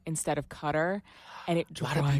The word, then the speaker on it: Qatar: I always pronounce it Qatar. Yeah, it's Qatar or Qatar. I don't know, but it's not gutter. There's no G.